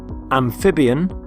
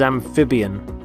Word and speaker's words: amphibian: And here are the 7 words: amphibian, carnivore, herbivore, omnivore, predator, prey, parasite. And the first word is amphibian. Amphibian. Notice the stress on the middle syllable, amphib.